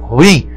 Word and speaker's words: ruim: Olha como se pronuncia a palavra ruim. É ruim, hein? Que não fala assim, rapaz. É ruim. A forma correta, ruim. Oxítona, cuidado com ela.